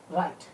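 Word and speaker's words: write: से शुरू करते हैं इंटरव्यू साइलेंट होता है जैसे डब्ल्यू आर आईटी राइट नऊ यू बोले चलो विपदा रहा है ऐसे ही डब्लू आर ओ एन सी इत्र है यहां पर भी डब्लू नहीं बोलेंगे उड़द आ रहा है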